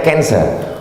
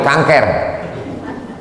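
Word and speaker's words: cancer: darah menggumpal-menggumpal menjadi kanser tulisannya c a n c e r orang barat membacanya kanser orang kita susah menyebut kanser kenapa nih kanker maka menggumpal dia dalam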